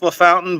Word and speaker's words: LaFountain: It is pronounced LaFountain, but it is French.